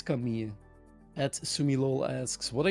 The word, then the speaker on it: Camille: So people think you pronounce it Camille. No, it's a French name. And then you say, oh yeah, but I mean, you speak it in Dutch. No, because when you go to Google Translate and you type in Camille and you let Google pronounce it, you get Camille. And this is in Dutch and in English. So guys, it's Camille.